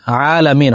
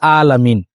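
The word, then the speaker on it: العالمين: আলহামদুলিল্লাহি রাব্বিল আলামিন এখানে আইন আলামিন হলকের মধ্যখান থেকে উচ্চারণ হবে কিন্তু এটাকে অনেকে অনেকেই আইনের পরিবর্তে আলিফ দিয়ে বা হামজা দিয়ে পড়ে আলহামদুলিল্লাহি রাব্বিল আলামিন তোযে আইন এবং হামজা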